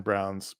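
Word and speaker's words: Browne: slide but their their production company is called Silent E Productions because both their names end in silent E and so I apologize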